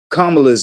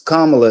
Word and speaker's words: Kamala: well let me start with kamala's name it's kamla it's not Kamala you guys um just just like Pamela is kamla like you wouldn't say pamala you know so some